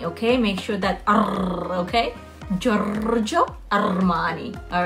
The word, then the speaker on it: Giorgio Armani: We say it like that, but it's actually pronounced Giorgio Armani, okay? Make sure that okay? Giorgio Armani.